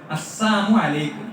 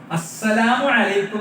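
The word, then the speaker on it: السلام عليكم: യഹൂദികൾ വന്നിട്ട് പ്രവാചകനോട് പറഞ്ഞു അസ്സാമു അലൈക്കും. വളരെ ശ്രദ്ധിക്കണം. നമ്മളൊക്കെ സലാം കേൾപ്പായി പോണ രൂപമാണ് അസ്സാമു അലൈക്കും എന്നാണ്. എന്താ അസ്സാമു അലൈക്കും എന്ന് പറഞ്ഞാൽ അള്ളാഹു നിങ്ങളെ നശിപ്പിക്കട്ടെ എന്നാണ്. അസ്സലാമു അലൈക്കും എന്നാണ് ഉച്ചാരണം ശരിയല്ലാത്ത രീതി പോയ പ്രശ്നം.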